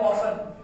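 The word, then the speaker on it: often: आई plus, देखिए ये word है ऑफन, हम इसको ब्रिटेन में ऑफन कहते हैं, बट अमेरिकन प्रोनाउंसिएशन हम उसको ऑफ्टन भी पढ़ते हैं, ठीक है।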